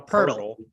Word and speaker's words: Poeltl: I don't want to say his name now because I'm self-conscious, but Poeltl, he doesn't do that. He's more a Poeltl. Hurdle, like Tomas Hurdle.